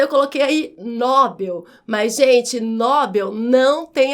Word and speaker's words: Nobel: Mas a pronúncia não é Nobel, a pronúncia é Nobel com a última mais forte, portanto não tem esse acento e a pronúncia correta é Nobel.